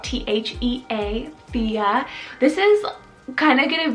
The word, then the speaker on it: Thea: spanish rooted meaning island next up i have fia spelled t-h-e-a fia this is kind of gonna be this next